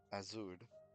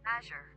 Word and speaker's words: Azure: and in my head azud azur azur Azure Azure a okay so I was pronouncing it the Spanish way azud azer okay uh we are